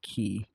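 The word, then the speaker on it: quay: Like the word key, Q-U-A-Y, I think that's pronounced key. But I think that's like, it comes from French.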